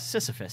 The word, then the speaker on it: Sisyphean: Is that Sisyphean.